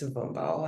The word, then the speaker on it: Mbvoumbo: I'm at, and my last name is Mbvoumbo, Mbvoumbo.